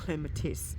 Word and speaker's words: clematis: เป็น clematis นะ คะ ถ้า ออก เสียง ตาม phonetics ก็ จะ เป็น clem atis ที นี้ ออก เสียง ควบ กัน นะ คะ เสียง ตัว M เสียง ตัว เสียง ท้าย นะ คะ เสียง ท้าย ของ แต่ ละ คำ เอา มา ควบ กัน มัน ก็ จะ ออก